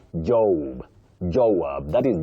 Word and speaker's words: Joab: The second one, Joab. Joab, not Jo. Joab, that is J O A B.